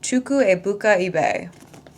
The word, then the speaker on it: Chukwuebuka Ibeh: After that, I went on to read and finish blessings by someone told me how to pronounce this. Chuku Ibuka ebe.